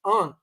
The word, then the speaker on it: Anh: So the only surviving member, his name was Anh, it's A-N-H, fled the country at that time.